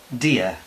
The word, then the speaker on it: dear: Pero en inglés la lengua la subimos hacia los alveolos. Por ejemplo, para decir dear.